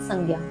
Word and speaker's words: संज्ञा: संजा दी जाती है संजा अर्थात संज्ञा सही उच्चारण है संजा तो ठीक वही